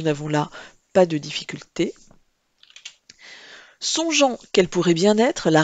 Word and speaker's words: songeant: Il ne faut pas oublier le E pour faire en sorte que le G se prononce bien je et non ge. Donc songeant s'écrit G-E-A-N-T.